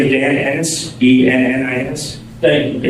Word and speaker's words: Ennis: My name is Dan Ennis, E-N-N-I-S. Thank you. It rhymes with tennis, not other words.